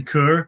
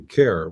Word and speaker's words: Kerr: Kur Conurd. Yeah, I guess it's actually care we pronounce it, but that's different.